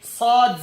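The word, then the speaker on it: ص: First of all, to pronounce these 3 letters, you place the front part or the tip of your tongue at the lower teeth, at the base of the lower teeth, like this.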